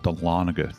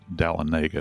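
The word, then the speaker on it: Dahlonega: We used to live in a town called Delana, Georgia. People sometimes pronounce it Dalenega. Of course, that's not the case.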